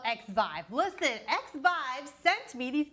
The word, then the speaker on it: Xvive: I don't know how to pronounce it. Zive? Zviv? Let me Google it. How do you say Zviv? Yeah. That's these. Learn more. Xvive. It's called Xvive.